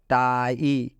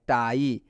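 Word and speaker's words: tie: Plus आ plus ई, टाई। तो इसमें आप देख सकते हैं आई नज़र आ रहा है ना, तो इस आई का उच्चारण क्या चीज़ से किया गया है? आई से किया गया है। टाई।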